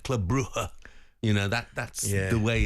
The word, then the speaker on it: Club Brugge: And the G's aren't really pronounced. It's more like Club Brugge.